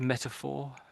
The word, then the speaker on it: metaphor: of meta metaphor metaphor so with that bit there you know know the number four that's basically what I'm saying I'm saying meta And then the number four. Metaphor.